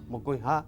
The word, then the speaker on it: mokõiha: Mokõiha, segundo. Si la veamos mo, coin, ja. La acentuación está en ja, pero no lleva acento ortográfico, sino prosódico, por ser ja la última sílaba tónica, pero final.